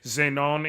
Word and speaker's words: Zenon: Example, Zenon is pronounced Zeno.